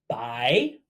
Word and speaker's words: 白: Now, if on top of our sun we add a 撇, that slanted stroke, we have white or clear, pronounced 白, just like bye-bye.